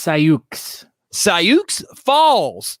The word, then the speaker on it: Sioux Falls: It's pronounced Sioux Falls.